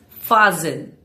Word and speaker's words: fasten: Here the T disappears. So it is fasten. For example, please fasten your seat belt.